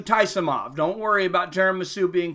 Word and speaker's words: Taisumov: Taisumov in the black. Not tiramisu, Taisumov.